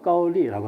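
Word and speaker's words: 高丽: 그러니까 카오레나 카올리라고 한 거는 왜 그렇게 표현했냐 하면은 여기 그 한자어로 고려라고 하는 것은 현대 발음하고는 약간 다르겠지만 지금 현재 발음은 까올리라고 합니다. 까올리.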